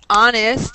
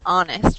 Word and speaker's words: honest: word Everybody Take note honest in English is one of the few words where the H is silent we do not pronounce the h so it's honest for this one so